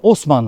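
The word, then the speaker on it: Haussmann: 19 yüzyılın ortalarında Baron Osman havuzman da yazılır h harfi ile ama Osmanlı okunur Paris'in şu bildiğiniz klasik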